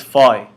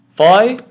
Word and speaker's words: phi: our next letter is phi phi is pronounced as f as in fat f is in fat